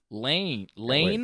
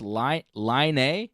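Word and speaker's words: Laine: Lane? Line. Lonnie, yeah. He's Finnish. Lonnie? Or Yeah. Lane? Line. Line? Yeah. Looks like Lane to me. He's Finnish. He's He's Finnish, Finnish. so it's pronounced Line.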